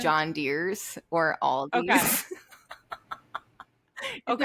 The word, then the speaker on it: Aldi: Aldi. Me and my family say Aldi's. No. And I know it's wrong, but now I can't undo it.